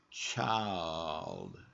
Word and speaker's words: child: And you can hear that L working in that word. Child.